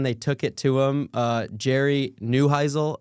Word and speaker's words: Jerry Neuheisel: Jerry Neuheisel, I believe is how you pronounce his name.